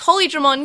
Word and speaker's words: Holydramon: So, of course, it's Holydramon, yay! So, I think you need to pronounce it the way you've written it down.